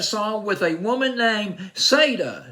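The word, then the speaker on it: Siedah: with a woman named Sada Sada Garrett or siet is Sada or I'll just go with SATA I came across a couple pronunciations of her first name now on this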